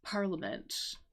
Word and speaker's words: parliament: Um, it's parliament, even though I know there's I in there, but um, yeah.